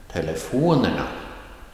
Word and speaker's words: telefonerna: And telefonerna, that is a rising tone on the third before last syllable.